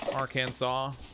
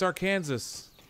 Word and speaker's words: Arkansas: Arkansas. You're saying it wrong. It's Arkansas.